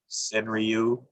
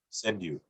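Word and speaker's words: senryū: uh some people will i think it's mispronounced as senriu or senraiu or something else it's it's sort of a send view almost a d sound with the r send you um closer to how the japanese pronounce it and the idea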